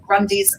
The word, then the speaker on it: Grundies: Yeah, Grundies rhymes with undies. We use a lot of rhyming slang. So, yep, Grundies are your jocks, as we call them too.